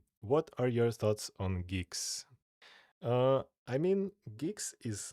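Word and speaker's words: Guix: Have to pronounce things properly. Geeks.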